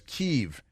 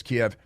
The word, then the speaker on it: Kiev: They mispronounce it as Kyiv, but it's Kiev.